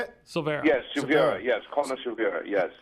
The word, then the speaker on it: Silveira: Yes, Silveira.